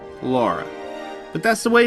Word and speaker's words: Lara: up before I begin it's Laura Croft not Lara even though it's pronounced both ways in this game some fanboys get angry when you say Laura but that's the way it's supposed to be